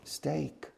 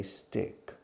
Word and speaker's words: steak: you order a steak a steak pronunciation steak s-t-e-a-k but eighty percent of the time my students say stick and I start laughing